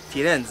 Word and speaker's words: Firenze: D'ailleurs, on ne dit pas Florence en italien, on dit Firenze.